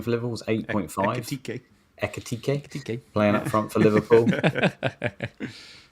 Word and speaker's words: Ekitike: You know, Atiki, or however you say his name for Liverpool, was 8.5. Ekitike.